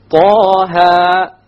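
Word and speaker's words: طه: Okay, both of them are 2 harakas long, so we pronounce it Taha, Taha. If we were to make it longer, it's a mistake. Ta or Taha, mistake. Each one has to be 2 harakas.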